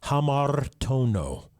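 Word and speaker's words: ἁμαρτάνω: Now, generally in Greek, you don't roll your R's, but I'm just so used to rolling my R's. I'm so used to rolling my R's that it's hard for me to not do it.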